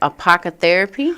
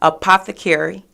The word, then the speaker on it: apothecary: Apocotherapy? Apothecary. Apothecary. Correct. What is this? Can you say it? Can you spell it first of all?